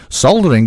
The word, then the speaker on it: soldering: We will get over the fact there's a silent L. Right. What about the O? Fucking explain the O. How can you make an A? How can you make an A sound out of an O with a silent? So soldering has got a silent L, but we also replace the O letter for the A. We miss out the L because that's not there, but we replace the O for an A.